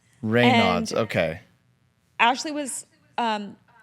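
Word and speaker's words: Raynaud's: Um, how how do you spell it first of all? Rayods. R A Y N A U DS. Rayods.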